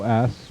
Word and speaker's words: Yoos: Scott Yos Yos yep it's Yos pronounced Yos like Yos this guy has got